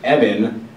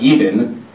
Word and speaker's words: Evan: is my name uh it is pronounced evan not even nor is it evan um the reason i